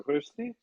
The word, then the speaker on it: Vercesi: Vercesi. Yes, I don't know if I'm pronouncing that correctly.